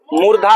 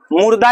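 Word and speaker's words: मूर्धा: मुर्धा क्या होगा बाब मुर्धा होगा इसका उच्चारण स्न मुर्धन वर्ण है और इसका उच्चारण स्थान मुर्धा होता है मुर्धा मुर्दा याद मत रखिएगा मुर्दा और मुर्धा में अंतर होता है होता है ना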